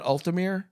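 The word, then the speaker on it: Uthmeier: Now, the Florida Attorney General, James Al, how do you pronounce that, man? Ultim.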